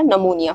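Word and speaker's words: pneumonia: करेंगे कॉमिनेशन क्या है पीएन पीएन के बाद हमने क्या पीएन का कॉमिनेशन यहां पर हम देख पा रहे हैं इस वर्ड के पहले सो यहां पर जो हमारा पी है वो साइलेंट हो जाएगा और प्रोनंसिएशन हमारा निमोनिया हो जाएगा उसी तरीके से पीएस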